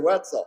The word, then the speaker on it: Wetzel: Wetzel was my teacher. I remember his name because it rhymes with pretzel. Mr. Wetzel.